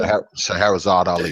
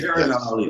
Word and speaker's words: Shahrazad Ali: Shahrazad Ali. Shahrazad Ali.